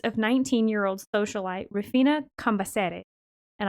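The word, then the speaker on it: Rufina Cambaceres: socialite refina campaseri and i cannot help but pronounce it the proper way because i took two semesters of spanish with an argentinian professor who would who would kill me if i didn't do it right you're like this is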